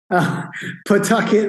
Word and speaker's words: Pawtucket: So Jay grew up in, and Jay, please forgive me, I cannot possibly pronounce that town you grew up in. Pawtucket, Rhode Island, yeah.